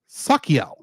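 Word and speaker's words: Sachiel: in the next episode is sakel though it's spelled s a s a c h i e l I had to double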